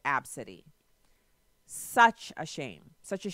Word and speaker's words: Abcde: c ee d ee it's ABCDE literally just the first letters of the alphabet no the first letters capitalized the rest of letters are all lowercase and then she pronounces it AB City such a shame such